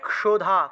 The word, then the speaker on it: ক্ষুধা: তারপরে দেখুন 26 থেকে 26, 27, 28 ইয়া দেবী সর্বভূতেষু, ক্ষুধা আছে না, ক্ষুধা উচ্চারণ হবে ক্ষুধা, ক্ষু, ক্ষ উচ্চারণ হবে।